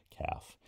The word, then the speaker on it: calf: L is a silent letter, I guess, in calf in English, but CALF pronounced calf, silent L.